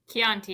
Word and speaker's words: Chianti: Chianti, you got it right the first time.